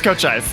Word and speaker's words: Cochise: it because the way I was going to pronounce it was not going to be It's either Cochise or... No, it's Cochise. It's just Cochise.